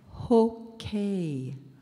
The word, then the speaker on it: hokay: Hokay.